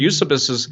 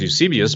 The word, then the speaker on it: Eusebius: and this is considered use abysus and some people pronounce Eusebius but use abyss is one of the